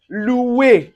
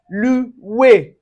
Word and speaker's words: louer: it in word like louer. Louer. So you can see anywhere you see the o u plus the i or you can see o u plus a vowel. So it gives us the oui.